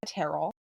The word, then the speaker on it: Terrell: Um, her name is Andrea Terrell. Rhymes with Carol.